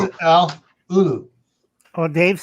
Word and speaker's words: ulu: How do you pronounce it, Al? Ulu.